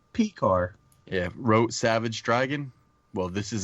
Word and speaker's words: Pekar: Pekar? Pekar.